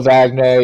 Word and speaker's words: Wagner: go with that um I always thought it's pronounced with a V I know it's spelled with W but U regardless um